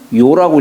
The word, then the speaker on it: 陶: 근데 이게 이제 도자기를 뜻할 때는 도라고 하지만은, 예, 도라고 읽지만은 사람 이름을 뜻할 때에는 요라고 읽어요.